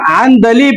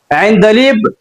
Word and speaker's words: عندلیب: اصل تلفظ اس لفظ کا عندلیب آتا ہے، عندلیب. اس کو بعض لوگ عندلیب تلفظ کرتے ہیں جو کہ غلط ہے.